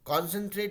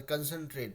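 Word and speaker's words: concentrate: CONCENTRAT कॉन्सेंट्रेट, कॉन्सेंट्रेट नहीं बुलाते, कंसंट्रेट बुलाते हैं, ठीक है।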